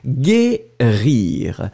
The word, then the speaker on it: guérir: So it means that without U, the sound would be gé. But because we put the U, then the sound is gé, gé, gé, gé. D'accord? Guérir.